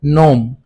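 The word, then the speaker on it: gnome: तीसरा हमारे पास जो वर्ड है नोम। इसमें हमारे पास जी साइलेंट है।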